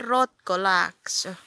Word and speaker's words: Rotkolaakso: Seinävuoren Rotkolaakso. I said it rötkö, but it's Rotkolaakso. It's laakso, not lääkso. Laakso.